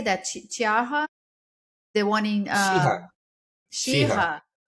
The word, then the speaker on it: Cheaha: Cheaha, the one in Cheaha, Cheaha, yeah.